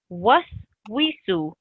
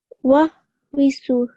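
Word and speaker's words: وسوس: Keep up the what sound whenever you see a wow. So I shouldn't hear any v. It's just a what sound. Was wisu. Wa visu.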